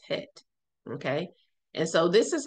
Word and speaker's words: het: Some say chet, but it's het.